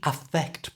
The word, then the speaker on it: affect: pronunciation affect and effect to say affect properly that a is pronounced quite strongly a effect you try